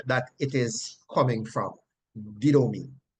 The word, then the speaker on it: didomi: is transliterated from the Greek to English as D-I-D-O-M-I. And it is pronounced didomi, didomi, didomi.